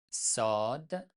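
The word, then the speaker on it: صاد: En arabe, on prononce sad, mais en persan, on prononce tout simplement comme S en français.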